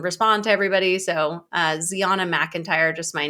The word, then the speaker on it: Zeona: stay you can use code Ziana which is my name you guys have been saying it wrong the whole time once again oh my